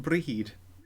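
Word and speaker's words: Brighid: __ ] uh indeed the name Bridget pronounced brihid potato alcohol right like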